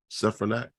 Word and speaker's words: Stefanik: This bill in the House of Representatives 2864, Miss Elise, Congresswoman Elise Stefanik, if I pronounce her name right, Stefanik, Yes.